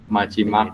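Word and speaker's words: 마지막: Jadi ejaan suku kata pertama adalah miem dengan a. Dibaca ma. Kemudian jiet ditambah dengan vokal i dibaca ji. Kayak gitu ya. Nah, kemudian diakhiri dengan 3 huruf ini dibaca Mak.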